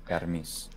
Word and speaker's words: Hermes: Greek would in pronouncing in the modern Greek fashion it's hermis yes so the a feature